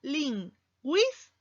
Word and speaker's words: lingüística: Se llama diéresis y nos indica que la U se pronuncia. Por lo tanto, U y I, vocales cerradas diferentes, y forman una sola sílaba: lingüística.